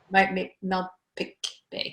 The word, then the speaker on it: Malpeque Bay: PEI is, and I hope I pronounced it right, Malpeque Bay. Malpeque Bay, yeah.